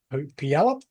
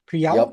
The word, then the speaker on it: Puyallup: With a decade of experience coaching high school wrestling from Puyallup, I don't know if I'm pronouncing that correctly at all, in Washington State, is Bryce Evans.